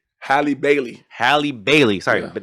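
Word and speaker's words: Halle Bailey: Cuz I always say Halib Berry. Hi Bailey.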